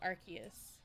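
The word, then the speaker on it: Arceus: partying okay cool fiend you pronounce the Pokemon Ace as Asus or arus uh however they did it in the official commercial so archus I know what you're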